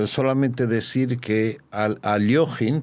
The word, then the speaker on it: Alekhine: Y solamente decir que aloin porque no es alquin sino su nombre su pronunciación es Alin hay que saber que